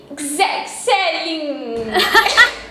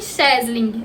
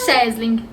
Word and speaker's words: Schesling: Estamos aqui com Gzelin. Oi, gente. Tirando a dúvida de muitos, é Schesling. É alemão, então pronunciam Schesling. Numa sentada só.